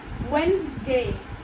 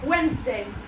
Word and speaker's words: Wednesday: So instead of speaking the D sound over here, you should use the Z sound. That is Z, Z. Wednesday.